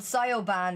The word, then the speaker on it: Siobhan: Oh my god, Niamh and Sioban is also my favourite.